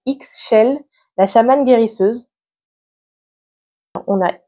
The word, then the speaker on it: Ixchel: Bon, là aussi, la prononciation est pas facile. C'est Ixchel, la chamane guérisseuse.